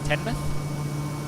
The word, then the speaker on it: Teignmouth: Tenmouth? I don't know. I always pronounced it Tinmouth. Tinmouth? Tinmouth, yeah. Yeah, like as in tin foil.